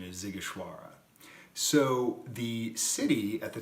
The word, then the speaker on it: Sighișoara: Vlad the Impaler was born in a city, a walled city, called Sighișoara. It's in the heart of Transylvania. It is not spelled like it sounds, but the proper pronunciation is Sighișoara.